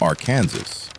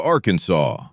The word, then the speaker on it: Arkansas: Arkansas has an official rule explaining how to pronounce Arkansas. It specifies the silent final S, the syllables, and even discourages the pronunciation that sounds like Arkansas.